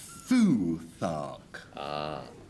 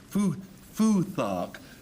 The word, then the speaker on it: Futhark: Foothark is the way I would pronounce this next word. Frank? Futhark. Futhark, because it's Anglo-Saxon.